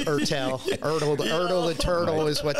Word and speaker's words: Ertel: e r t l often people call me erle it's erel erle the turtle is